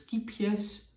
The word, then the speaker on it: Scheepjes: So it's skiepjes, scheepjes, but it is scheepjes.